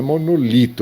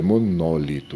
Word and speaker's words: monólito: E não é monolito, é monólito, não é?